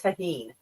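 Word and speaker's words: tahini: Levi says it's pronounced tahine.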